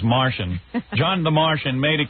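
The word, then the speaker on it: Matoian: Looks like it's Matoin, but I think it's pronounced Martian.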